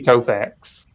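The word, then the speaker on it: Koufax: Andy Kofax is is how you say his name.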